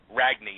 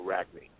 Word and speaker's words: Ragni: Ragni, yeah. Well, Ragni is if you want to Americanize it. Ragni, the G is silent in Italian. You don't go Ragni. You go Ragni.